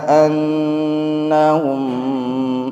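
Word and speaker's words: أنهم: Ala yadhunnu ulaika annahum. Nah, ingat, gunnah harus imbang. Annahum, itu yang saya maksudkan, sabar bacanya, jangan annahum. Ada gunnahnya tapi kurang.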